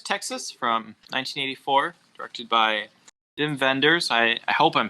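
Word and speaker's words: Wim Wenders: from 1984 directed by jim venders i i hope i'm saying that right i looked up a pronunciation i said it was vim vender so he's like what german i think yeah means german who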